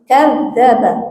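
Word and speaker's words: كذّب: Seharusnya ada tasydid di za ya, jadi kadzaba.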